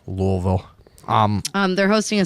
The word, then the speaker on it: Louisville: it's all the way it's Louisville Louisville that's how they say it Louisville um um they're hosting